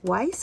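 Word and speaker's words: Wiss: They're Weiss, I think as you pronounce them, W-I-S-S.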